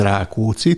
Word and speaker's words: Rákóczi: Acontece que Rákóczi, com o acento sempre no húngaro na primeira sílaba de cada palavra, neste sentido é um nome histórico. O príncipe Ferenc Rákóczi tinha encabeçado uma guerra